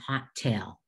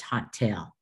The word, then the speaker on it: hotel: Now, these students had used the letters, there were two vowel letters, put it into two parts, hot-el. Unless it was a really good vacation, it should have been a hotel.